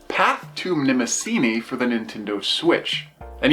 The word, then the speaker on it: Mnemosyne: at a pretty interesting Indie called path to nemini for the Nintendo switch and yes I actually did do the research I finally looked at a pronunciation guide it is nemini which is the goddess of memory so I